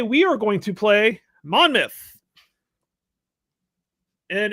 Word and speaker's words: Monmouth: to play Monmouth and it's like Portsmouth where the myth the mouth it's not mouth, it's myth. Monmouth. Mth. Pronounce things weird. I'm surprised you don't pronounce it monm mouth. Yeah, that's that would be about what we do. We would change it to that, but obviously that's not it.